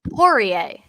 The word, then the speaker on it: Poirier: Poirier.